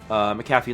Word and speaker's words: McAfee: And 2, the second part of my name is pronounced McAfee like the antivirus.